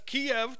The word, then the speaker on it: Kiev: Biden goes to Kiev that's Kiev two syllables and these five idiot